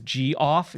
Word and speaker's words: Geoff: So my friend Jeff, his name is Geoff, Geoff, and we always called him Geoffrey. And I just always love that some names can always be spelled differently but pronounced the same.